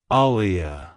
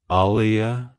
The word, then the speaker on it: Alia: Sublime it's pronounced as aliia aliia Alia to pronounce it correctly emphasis ize the second syllable Lee and maintain a soft uh sound at the beginning avoid stressing the first syllable too much like hello Alia goodbye